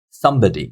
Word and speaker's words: somebody: So number four, somebody, somebody. So we've got three syllables here. Somebody. So if you hear me, somebody. So the first syllable is taking the stress. It's much louder than the other syllables.